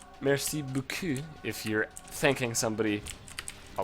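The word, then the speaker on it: merci beaucoup: French it's me right except you wouldn't emphasize any part of the Buu it was just messy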